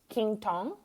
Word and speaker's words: Quinton: I also recently purchased the King Tong. Are you guys familiar with it? It's spelled Quinton.